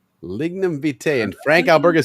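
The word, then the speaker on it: Lignum vitae: Pronounce it again to my mango drink. Lignum vite. Lignum vite.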